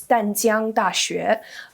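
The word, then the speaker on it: 淡江大學: In the Chinese pronunciation, it's Danjiang Daxue.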